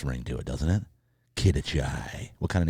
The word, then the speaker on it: Quidachay: Did I pronounce that right? Yeah. Quidachay. That's got a nice ring to it, doesn't it? Quidachay.